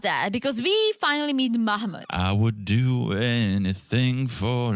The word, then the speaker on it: Mahmoud: I think it's Mahmoud. Mahmoud. It's not Muhammad because he's got a brother Muhammad.